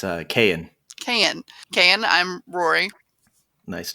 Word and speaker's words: Kayan: no problem it's uh kayan can can i'm rory nice to meet you i'm hank good to meet you hank how do you spell kn k-a-y-a-n oh got it it's spelled like it sounds nice right do you